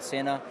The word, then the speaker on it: Senna: He's for sure a big fan of Ayrton Senna.